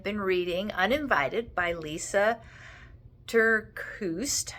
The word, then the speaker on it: TerKeurst: I've been reading Uninvited by Lisa Terkeurst, I think is how you say her name, spelled Lysa.